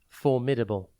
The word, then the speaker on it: formidable: time today's word is formidable it is pronounced for midable and spelled f o r m i d a b l e think for Mid and then able formidable means someone or